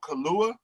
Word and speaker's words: Kaluuya: And the fact that the actor, I'm not sure how to pronounce his last name, but it's Daniel Kaluuya.